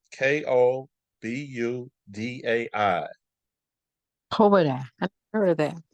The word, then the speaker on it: Kobudai: So that Kobadai, if you want to look that up, it's spelled Kobudai.